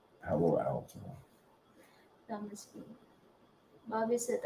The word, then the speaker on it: Palo Alto: That Pablo Alto, there's a security company called Pablo Alto something. I'm saying it wrong. Hello. Palo. Palo Alto.